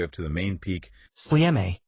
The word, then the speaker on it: Sljeme: Exactly, all the way up to the main peak, Sljeme, which is pronounced S-L-E-H-M-E, and that sits at 1,073 meters.